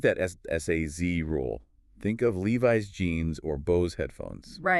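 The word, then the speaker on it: Levi's: No, in both cases, it's a voiced Z sound. And notice the long vowel sounds, too. Levis and Bose.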